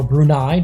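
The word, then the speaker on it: Brunei: Kazakhstan and now Afghanistan against brune or brunai depending on how you want to pronounce it but here on marel kuo we're going to pronounce it brune they're in the yellow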